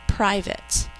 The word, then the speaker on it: private: We say private. I will not let anyone read my private diary, but we think to spell private. Two syllables. Think to spell P-R-I-V-A-T. I is saying I at the end of a syllable. Silent E making that A say A.